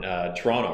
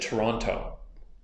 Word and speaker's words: Toronto: whereabouts in Canada and he said Toronto he pronounced the last T and I'm like no you're not from Toronto and he's like well